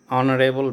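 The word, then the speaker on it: honourable: Pandit Nehru was Pandit Nehru was dash ऑनरेबल मैन। यहां देखिए यहां पर वोवेल की तरह उच्चारण हो रहा है। प्रोनंसिएशन पर निर्भर करता है। यह तो Pandit Nehru was एन ऑनरेबल मैन।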